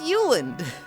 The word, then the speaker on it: Yulind: Why would you pronounce the D like it's isolated like that? It's just Yuland."